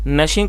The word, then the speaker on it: gnashing: अक्सर आपने देखा होगा जब गुस्सा आता है किसी को तो वो दांत पीसता है, उसे gnashing कहा जाता है, जिसमें n जो है साइलेंट है।